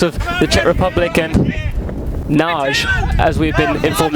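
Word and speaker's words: Nagy: Two players, Thomas Kalas of the Czech Republic and Naj, as we've been informed it's pronounced, of Hungary.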